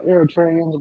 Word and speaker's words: Eritrea: Eritrea. How you say It's, that it's, shit? it's Eritrea.